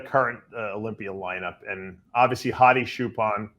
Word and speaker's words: Hadi Choopan: Olympia lineup and obviously hotti chupan or chopan if is what I'm being told Milo tell me is the right way to pronounce it hotti Chopin is the reigning Mr